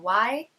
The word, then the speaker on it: Czerny: George Czerny, I think is how you pronounce it. It's Czerny.